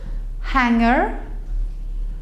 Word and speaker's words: hangar: Hanger, hanger. They are exactly the same.